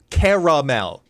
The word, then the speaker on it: caramel: Even though Even though it's haters going to hate, it's caramel to be clear. Okay. Caramel deserves three syllables.